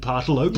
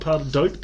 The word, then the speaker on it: pardalote: the critical endangered 40-spotted pardalote. You could beat me around the head and neck with a 40-spotted pardalote, and I wouldn't recognise it. Like, I don't... Never heard of it. Pardalote, not pardadote, How do you spell it?